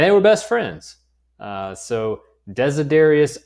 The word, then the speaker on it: Desiderius: That is how you say those two names. Desiderius is his first name. Erasmus is his last name.